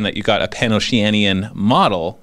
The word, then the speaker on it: Pan-Oceania: It's not Pan-Oceanian. Okay, what is it? There is no N on the end.